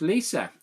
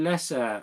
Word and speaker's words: Lisa: It's pronounced Lisa. I've called you Lessa for so many years to my phone.